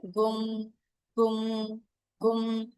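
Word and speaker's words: गुं: यू एम कुम गु इसको हम लोग उच्चारण कैसे करेंगे गुम गुम गुम ये खाली यहीं तक ही रहेगा उसके ऊपर बाहर मत निकालिएगा है ना गुम तो उससे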